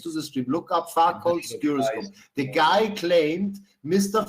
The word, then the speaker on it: Foucault: Farcos. It's pronounced Foucault.